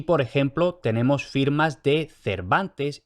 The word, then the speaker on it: Cervantes: en siglo de oro no importaba si la grafía era Cervantes con b o Cervantes con v la pronunciación era ya la misma Cervantes Y a lo largo